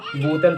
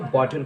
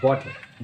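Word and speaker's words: bottle: जो अगला वर्ड है, आप लोग इसको ज़्यादातर लोग बोतल पढ़ते हैं, बोतल। इसको बोतल नहीं कहते, इसको बॉटल कहते हैं, बॉटल।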